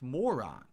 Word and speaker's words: moron: It's Costco, like a and cost Maron. company. When do I say Maron? It's moron.